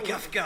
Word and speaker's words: Kafka: C'est vraiment du Kafka. Ah oui, C'est- heureusement que vous prononcez le F.